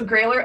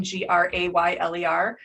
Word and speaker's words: Grayler: exercise in history because i spelled the business name g-r-a-y-l-e-r thinking that would help people with pronouncing my last name epic failure all the